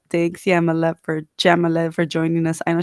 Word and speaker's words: Jamila: yeah my love for jamila for joining us i know she's gonna kick my butt i always say her name wrong i say with a y not a j um so i wanted